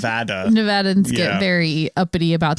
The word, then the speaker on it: Nevada: And it's like people who in Nevada who have it's Nevada, it's not Nevada. Yeah. It's Nevada. Nevadans get very uppity about the pronunciation of Nevada.